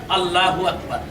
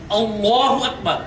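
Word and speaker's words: الله أكبر: আকবার কিন্তু আমাদের দেশের অনেক মানুষ উচ্চারণ করে আল্লাহু আকবার কিন্তু উচ্চারণটি সঠিক নয় উচ্চারণটা হচ্ছে আল্লাহু আকবার যখন নামাজের নিয়ত করব তখন আমরা হাত বাঁধার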